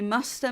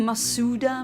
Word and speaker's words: Masuda: egg hunt and I'm doing the Masta method. People always keep saying Masuda method, but that's not really the correct pronunciation.